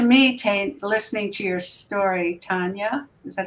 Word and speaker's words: Tania: And to me, listening to your story, Tania, is that how you say it?